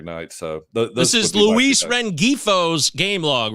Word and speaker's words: Rengifo: I really like Luis ringfo uh if you need um you talk about Luis rengifo right because yes I I do not pronounce the G I don't know why